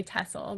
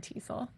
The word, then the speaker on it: TESOL: long e sound so unless you're going to say english and then you then in which case you're free to say tessel but if you say english with a long e go ahead and call it tesol well it helps us